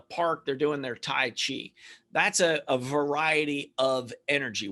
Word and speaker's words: Qi: Qi is Qi or Chi, but we spell it Qi as Qi, like the energy.